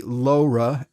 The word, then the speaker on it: LoRa: in west virginia so i tend to say laura as laura more like the woman's name so i will just warn you that my pronunciation may be a little unusual but we'll all know